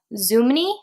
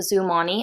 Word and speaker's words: Zoomoni: gifted these organizers by Zuma knee I think is how you pronounce the brand it has av I'll show you their little it's the brand it's really cute little kangaroo so zoom on E I think is how